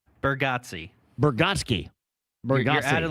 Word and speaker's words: Bargatze: Rhymes with Yahtzee.